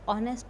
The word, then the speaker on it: honest: तो ऑनेस्ट तो हम बोला ओ का उच्चारण आ रहा है, लेकिन स्पेलिंग इसकी क्या होती है? HONEST, ऑनेस्ट, है ना।